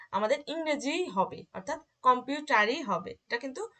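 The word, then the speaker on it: Computer: ইংরেজি ওয়ার্ড, তো ইংরেজি ওয়ার্ড হওয়ার কারণে এটার উচ্চারণটা আমাদের ইংরেজি হবে, অর্থাৎ কম্পিউটারই হবে, এটা কিন্তু সম্পুটা হবে না, ঠিক আছে।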